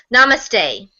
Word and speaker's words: Namaste: Phil told me how to pronounce Namaste.